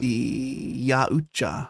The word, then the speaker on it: Yautja: Yautja. Yautja. It looks like Yaltja if you look at it in writing. Yautja. But it's pronounced Yautja, apparently.